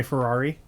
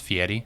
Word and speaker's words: Fieri: as my wife called him the other day, Guy Ferrari. Guy Ferrari. Diners, drive-in, dives. You know, it's actually pronounced Fieri.